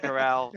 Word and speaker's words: Corral: however you say his name, doing Matt one Carroll. of these Carroll, It's Corral, yeah, Golden You Corral. better learn it when he hoists the Heisman. Yeah, I'll just go with Golden Corral.